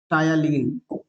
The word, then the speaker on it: ptyalin: टायलीन, टी is silent, right? टायलीन, PTYALIN, टायलीन। ये क्या है?